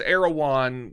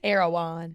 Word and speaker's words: Erewhon: Erewhon. Yes. Is that not? Erewhon, yeah. I've heard people say Erewhon. The people who like know this shit. Mm-hmm. It's Okay. 2 syllables.